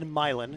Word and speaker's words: Milan: and Nashville okay uh it's said milin it's spelled Milan isn't it Union is in